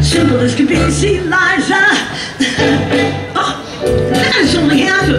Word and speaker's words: Liza: Okay, it's Liza with a Z, not Lisa with an S, because Lisa with an S goes not Z instead of S, Liza with a Lee.